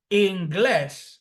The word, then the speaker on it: inglés: So, or the words that finish in S, oxytone words that finish in S, como inglés, that is an oxytone word, it's accentuated on the third syllable, on the last syllable, excuse me, and it finishes in S.